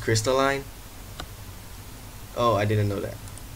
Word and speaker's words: Crystalline: crystal Lee wait it's pronounced crystalline oh I didn't know that hello everyone welcome